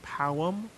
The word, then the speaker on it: pau: In Portuguese, it's pau, but pronounced really strangely like powum.